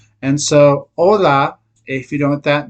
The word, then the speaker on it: hola: now you don't say hola you say hola so the H is silent okay so make that